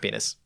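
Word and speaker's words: pinus: that's pronounced petus penis literally just pronounced penis it's actually penis but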